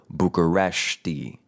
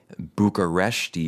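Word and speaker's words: București: Romanians pronounce it Bucuresti. So there it's not the shit sh. Bucuresti is more like the shh, this is a library. To the Romanians, Bucuresti.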